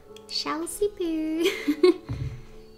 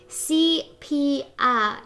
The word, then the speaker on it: sepia: Chelsea Poo. Oh. I got that so wrong. CPR is how you say sepia.